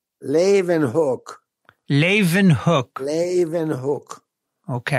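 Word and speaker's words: Leeuwenhoek: guy who invented the microscope how do you pronounce his name laven hook laven hook and hook okay i always wondered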